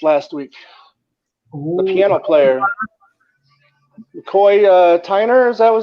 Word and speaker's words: McCoy Tyner: McCoy Tyner, is that how you pronounce his name?